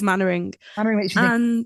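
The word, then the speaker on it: Mainwaring: Um for some reason it took me forever to learn how to pronounce that last name, but it is Manoring.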